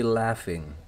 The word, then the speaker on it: laughing: Itu bukan logging tapi laughing. Laughing. Pakai F, jangan ragu-ragu.